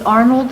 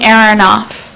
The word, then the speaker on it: Aronoff: my name is erinoff and I forgot to sign up Arnold aaronoff could you please spell that AR on off like a light switch um I was born